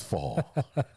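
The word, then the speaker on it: faux: And I think it's fall. It's fall leather. Fall leather. Fall. The X is silent.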